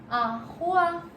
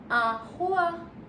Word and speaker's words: roi: We pronounce OI as wa. Wa. This is the sound for OI. So wherever you find OI in any word, you will pronounce as wa.